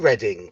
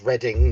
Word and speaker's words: Reading: would guess everybody in Reading cuz that's reading not reading um but yeah they